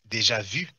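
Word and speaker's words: déjà vu: You pronounce it Deja Vu. It's French. And it's Deja Vu.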